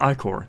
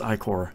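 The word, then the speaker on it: Ichor: you some Ike or by the way it's pronounced I Corr I'm like right I never remember it to pronounce that thank you for reminding me it's AI core and then I read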